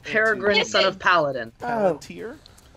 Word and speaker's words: Palantir: Palantir? Palantir. Peregrine took Pippin. 2 points. Yeah. I'm literally only here to correct his pronunciation.